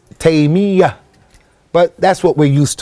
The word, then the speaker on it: Taymiyyah: And actually, Ikhwani, some of the scholars said that the correct way of pronouncing his name is Taymiyyah, with a shadda on the ya. Many people make it with takhfif and they say Taymiyyah. The correct way is Taymiyyah.